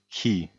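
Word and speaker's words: chi: and pronounce this word CH remember the H is never pronounced and the letter c CH has two ways of being pronounced and if you remember from the previous rule I taught you this is pronounced key key and means who so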